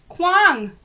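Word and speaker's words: Kuang: Kwang.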